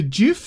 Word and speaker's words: GIF: the song gif chief it's actually called pronounced jiff cuz the dude who created it calls it a doof but I'm